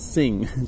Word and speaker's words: Singh: is the new the Xing or I keep calling him Xing Singh his name is Singh it's the pronouncing I'm just the that keeps saying Xing anyways this is the